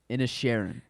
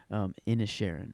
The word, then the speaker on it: Inisherin: Inisherin. Okay, thank you. Inisherin.